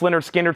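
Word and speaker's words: Lynyrd Skynyrd: stuff big brother and the holding company $64.99 pronounced Leonard skard 64.99 fog hats $44.99 nothing fancy 64.99 wh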